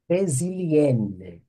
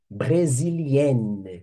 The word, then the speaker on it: brésilienne: No feminino, je suis, opa, no feminino, brésilienne, brésilienne, ok? Forçar o feminino aqui, hein? A pronúncia, hein? Forçar a pronúncia do feminino aqui.